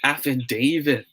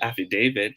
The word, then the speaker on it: affidavit: this word is you got it right it's pronounced as affidavit okay affidavit will be pronounced as day long